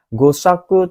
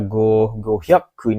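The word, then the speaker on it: 五百: Goshaku tidak ada, gohyaku ini ada su kecilnya salah, gopyaku nggak pakai pyaku minasang. Jadi salah juga ya.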